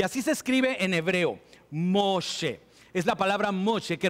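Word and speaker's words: משה: lo saqué del río ahora en realidad es mosé ahora tenemos que volver a esto más tarde pero este es el nombre de Moisés y así se escribe en hebreo moshe es la palabra moshe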